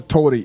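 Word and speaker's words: torii: Ours are pronounced like L's, tori.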